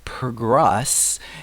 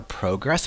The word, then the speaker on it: progress: progress is to advance the noun can be pronounced in two different ways so you could say progress with strust on the first part or progress but the verb is pronounced with struss on the second part so it's always progress progress everybody's expecting and delivering